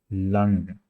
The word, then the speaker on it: lang: Lang, lang.